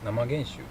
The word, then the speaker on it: 生原酒: Cách phát âm đúng của "namagenshu" là "NAMAGENSHU" hay "KIGENSHU"? Từ này được phát âm là "NAMAGENSHU".